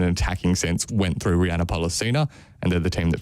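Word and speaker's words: Rhianna Pollicina: Rihanna Pollicina. Thank you. Which is, I believe, how she pronounces it.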